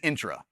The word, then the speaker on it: Entra: Intra, Entra, I've heard every pronunciation of this one. It is Intra, just so y'all know.